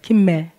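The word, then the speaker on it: ג: 자, 다시 이 프린트를 보고 김멜이니까 음가가 뭐예요? 기역. 예, 기역 소리가 나죠.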